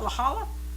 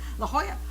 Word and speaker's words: La Jolla: california san diego and i can never pronounce that is that lachala i just pronounced the uh before yeah huh american style or mexican you know spanish-style la jolla aloha okay that sounds familiar